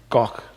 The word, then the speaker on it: van Gogh: how to pronounce it it's the g-h gok not go okay so we're going